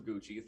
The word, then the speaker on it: Gucci: ron jeremy irons was in a house of gucky but here we are irons the movie is house of gucci thank you so much for giving me a